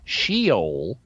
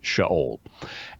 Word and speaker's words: Sheol: Now, you'll hear some people mispronounce it as Sheol, but it's not. In Hebrew, it's Sheol.